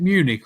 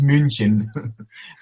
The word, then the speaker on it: München: Over in Germany, do they pronounce it Munich or München? Yeah, in German it's München.